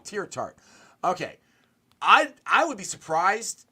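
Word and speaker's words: Teair Tart: I keep saying his name up, but Tartar, is that how you say it? Who got cut from the Dolphins, who we brought in? Oh, Tier Tart. Yeah, Tier Tart. Thank you. I knew I was saying it wrong.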